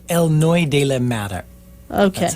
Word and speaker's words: El Noi: just let you tell me what that's called Eloy de okay that's how it's pronounced de Mar and it's the son of